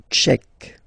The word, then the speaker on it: tchèque: La République tchèque. So remember, QUE, k, tchèque. La, and then here as well, République.